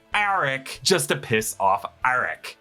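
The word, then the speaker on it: Arryk: And I'm telling you, in this moment, Sir Criston deliberately pronounced it more like Eric than Arik just to piss off Arik.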